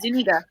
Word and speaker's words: Zuniga: Do you guys feel like that okay, so besides Jabari Zuniga, that's how you say it, Zuniga.